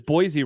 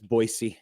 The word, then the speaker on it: Boise: Jeff says Josh always says Boise wrong. Is it because it's Boisey, right? Boisey state. Yeah, they're pretty anal about that. It's Boisey.